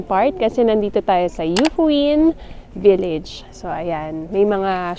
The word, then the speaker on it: Yufuin: yyung yufuin City So yun pala yung right pronunciation no yufuin yan so Ang ganda sobrang lamig kasi mataas